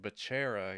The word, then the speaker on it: Becerra: Because 2 C's in like Italians, k, yeah. It? Or a ch. It'd be like Becerra, I guess. But yeah, it's Becerra with 1 C and 2 R's.